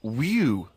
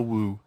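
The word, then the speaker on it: wewe: Is that how am I pronouncing that right? Who's using that word? Who is using that word? It was just W-E-W-E. Let's call it a woo.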